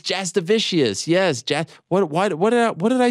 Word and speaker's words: Jasudavicius: Jasmine Jasudavicius. Did I blow that? Is that bad? Did I mess that up? You know, Jasudavicius, but I mean, fucking hell, Jasudavicius. It's Jasudavicius.